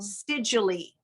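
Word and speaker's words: Seidule: Siedule. Ty EY Siedule, and it's spelled Siedule.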